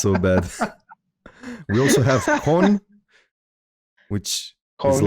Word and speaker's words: con: How do you spell that con in Le- French?